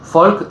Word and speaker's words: Volk: Folk es Volk, se escribe con B corta, fonéticamente se suena como F, es el inicio de la palabra, como sabrán, Volkswagen en realidad, que Wagen es auto y Folk es pueblo.